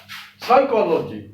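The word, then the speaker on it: psychology: अब ये है देखिए साइकोलॉजी, साइकोलॉजी इसको बोलते हैं साइकोलॉजी, तो ये रॉन्ग प्रोनाउंसिएशन है, साइकोलॉजी नहीं है, ये साइकोलॉजी, साइकोलॉजी, साइकोलॉजी, साइकोलॉजी। को पे ओ की मात्रा नहीं लगानी है और का भी नहीं बोलना है, को, साइकोलॉजी, साइकोलॉजी।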